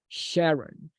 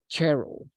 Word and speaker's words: Cheryl: So the pronunciation may be a little bit tricky, but she didn't say Sharon. She said Cheryl.